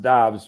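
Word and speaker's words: Doubs: romeo where arthur there you are uh romeo dobbs dobbs dobbs it's actually it's it's pronounced dobbs even though it looks like dupes okay this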